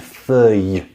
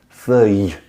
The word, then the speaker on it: feuille: sound great saying that, is just this y on the end, feuille, feuille. You hear, I push out a little bit of air, feuille, feuille.